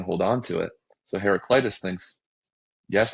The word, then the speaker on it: Heraclitus: Because this Heraclitus guy, that's how you say it, is just